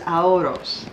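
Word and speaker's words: Aioros: This is Aoros.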